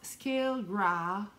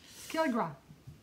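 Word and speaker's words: scéal grá: prononce Scale Gras. C'est A love story. Irish for a love story. A love story. Skillgra.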